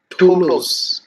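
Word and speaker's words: Toulouse: So এখানে হচ্ছে এটা প্রোনাউন্সিয়েশন করা হয় হচ্ছে টোলোস, টোলোস সম্ভবত টোলোস নামে।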